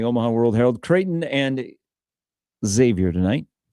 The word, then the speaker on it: Xavier: Xavier is a big deal and we were taught it's not ex you just say Xavier but I've never been